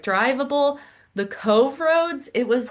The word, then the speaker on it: Cobh: um, came to Cove, which is spelled C O B H but is pronounced Cove. Um, that was a little hard for us because we didn't know. We were calling it like Cobb or something and some